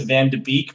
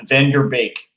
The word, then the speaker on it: van de Beek: you say it so a lot of people are going to pronounce the van de beek but i think they could correct the pronounce it is van der beek okay so van der